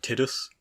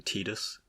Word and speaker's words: Tidus: and all the people in his orbit so tidus was kind of generally adopted uh according to